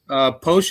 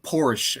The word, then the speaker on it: Poosh: Posh is the correct way to say it, even though it's spelled with 2 O's. Okay. What's the worst thing you've ever been called, Charles? People hit me with Porsche, and I don't know